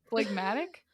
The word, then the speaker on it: phlegmatic: Phlegmatic? Is that Or how you say it? phlegmatic? Phlegmatic? I think it's phlegmatic. Hey Google, how do you pronounce phlegmatic?